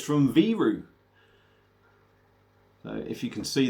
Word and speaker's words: Viru: going and it's from viru so if you can see the bottle look at that beautiful 300 mil uh v-i-r-u but apparently it's pronounced v-roo uh this is a